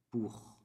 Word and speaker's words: pour: Por, en français, se dice pour. Pour. S'écrit quasi igual, il y en a ou, qui est de más, mais se dit pour. La O et la U, dans le sonido U. Pour.